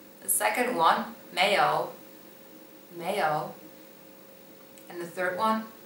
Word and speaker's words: 没有: The second one, 没有, 没有.